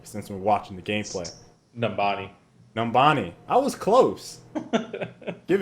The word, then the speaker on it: Numbani: Speaking of which, We're actually on one of the new maps in this gameplay called Numbonia? Numbania?